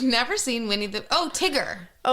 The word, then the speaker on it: Tigger: She yells back down, "Mom, I'm having a tea party with Tiger and Mum." Oh, if you've never seen Winnie the Oh, Tigger.